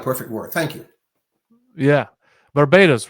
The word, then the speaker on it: Barbados: Barbados, right?